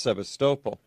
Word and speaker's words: Sevastopol: Peninsula there's a city called Sebastopol except is pronounced Sevastopol in the Crimean Peninsula yeah did you when